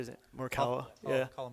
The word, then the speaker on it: Morikawa: Morikawa? Yeah. Colin Morikawa.